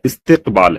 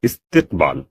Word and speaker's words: استقبال: اس کا تلفظ جو ہے استقبال ہے، استقبال، اور یہ بھی عربی زبان سے آیا ہوا لفظ ہے، عربی سے اردو میں استعمال ہوتا ہے.